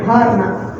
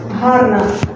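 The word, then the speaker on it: гарна: Okay, let's practice this H sound again. Hope. Harna. Bo.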